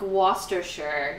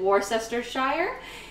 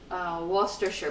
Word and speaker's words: Worcestershire: And it's pronounced, I think it's pronounced like Worcestershire, even though I used to pronounce it Worcestershire because I didn't know, and then I learned it's closer to like Worcestershire, but I know that's not exact either.